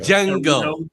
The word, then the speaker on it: Django: Jango. Jango. Unchained. Django. D is silent.